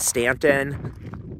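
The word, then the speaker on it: Staunton: to Interstate 81 at Stanton spelled with a u it's been taking the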